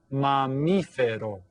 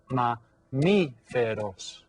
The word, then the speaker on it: mamífero: So try the word mamífero. Okay? Mamífero. How many syllables? Mamífero. Has 4 syllables.